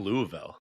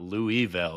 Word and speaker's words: Louisville: Yeah, he's from Louisville. Yeah. I figured out it's not Louisville, it's Louisville. Louisville.